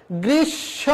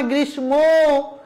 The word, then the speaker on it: গ্রীষ্ম: হয় গ্রীষ্ম না গ্রীষ্ম এখানে মধ্যানের সাথে ম যুক্ত রয়েছে মটা নাসিক্য বর্ণ যদি নাসিক্য বর্ণ চলে যায় তুমি যাও চলে যাও শুধু স্মৃতি রেখে যাও নাসিক্য বর্ণগুলো যখন চলে যাবে উচ্চারণে যখন এই নাসিক্য বর্ণ থাকবে না ওদের চলে যাবে কিন্তু স্মৃতি হিসেবে একটা চন্দ্রবিন্দু চাঁদ রেখে যাবে সেজন্য গ্রীষ্ম আমরা উচ্চারণ